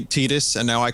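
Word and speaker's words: Tidus: theme in Final Fantasy 10 but instead it's pronounced tetus it's like they came so close to having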